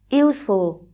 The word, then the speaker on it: useful: ở câu số 3 useful đây là tính từ có hai âm tiết và trọng âm giờ tiếp số một lon li đây là